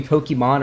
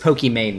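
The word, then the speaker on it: Pokimane: pokemane is or pokemon depending on how you pronounce apparently it was supposed to be pokemon early on because her name's aman and it's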